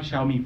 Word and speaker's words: Xiaomi: Xiao like in shower, me like me.